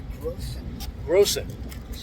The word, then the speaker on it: Grossen: name I don't even know your last name gross it that's how you say it okay gross so